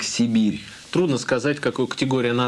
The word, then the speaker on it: Cyberia: название следующей игры а пишется как тиберия а произносится как сибирь трудно сказать какую категорий